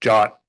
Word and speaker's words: JWT: It is pronounced Jot and I don't know why.